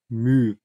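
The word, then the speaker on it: μ: aber dann auch Erwartungswert und das heißt übrigens mü so wird das ausgesprochen wir schauen uns jetzt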